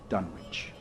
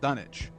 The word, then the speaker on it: Dunwich: Afterward, one sometimes learns that one has been through Dunwich.